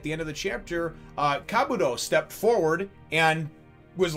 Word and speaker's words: Kabuto: And apparently it's not Kabuto, it's Kabuto.